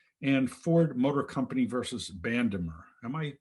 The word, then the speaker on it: Bandemer: judicial district court and ford motor company versus bandemer am i pronouncing that right yeah that's right so first